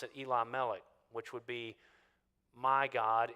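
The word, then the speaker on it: Elimelech: means king so really if you want to slow it down and pronounce it in two syllables you could pronounce it Eli melik which would be my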